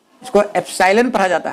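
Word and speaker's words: epsilon: Pronunciation में देखिए अंतर है, एप्सिलॉन, यह है अपसाइलॉन।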